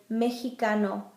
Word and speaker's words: mexicano: And it can sound like an H, like in the word mexicano, Mexican, mexicano. Y, same as in English, yo, I.